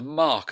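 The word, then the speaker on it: marque: talk about in English they talk about the mark of a car and they spell it m-a-r-q-u-e like in French and that's what they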